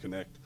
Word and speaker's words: Knecht: Sorry, I said that in the German. He pronounces it Connect.